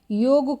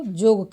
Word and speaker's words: योग: कक्षा को कक्षा कहना योग को जोग कहना और यह जो उच्चारण